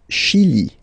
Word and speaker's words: le Chili: Le Chili, le Chili. Okay, remember, C-H, sh.